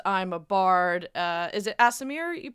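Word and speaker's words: Aasimar: Is it Asimir you pronounce it? Is that how it's meant to be? Asimar? Asimar.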